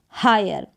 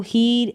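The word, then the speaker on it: hire: फिर ये है हायर, तो इसको हीर, एक्सपीर या एम्पीर या फीर या डिज़ायर या वीर करके नहीं पढ़ेंगे।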